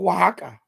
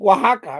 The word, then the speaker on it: Oaxaca: deal you know and it's a place called Oaxaca that's how you pronounce it Oaxaca right even though it's spelled differently that's how